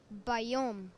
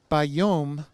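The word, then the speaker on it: בַּיּוֹם: Bayom. Bayom, meaning on the day. Notice how ba rhymes with ha.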